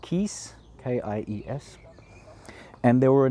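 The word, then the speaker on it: Kies: I think in English we just call it gravel, in German it's called Kiez, K-I-E-S.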